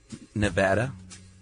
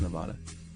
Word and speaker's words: Nevada: And we want to support Bill Wagner who sent us a bumper sticker on how to pronounce Nevada. Nevada.